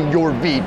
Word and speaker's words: Yorvit: It's actually Yorvit, but it takes a little practice.